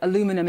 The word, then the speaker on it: aluminium: this point to the steel and aluminium or aluminum as you Americans say.